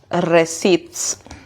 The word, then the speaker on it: receipts: Okay, professional receipts. Okay, P is silent here when you are pronouncing it.